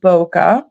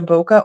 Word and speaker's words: bokeh: This is called Beautiful Bokeh. Beautiful, beautiful. And I hear people online saying that it can be pronounced either bokeh or bouquet. I'm going to pronounce it bokeh because that's what I want to do.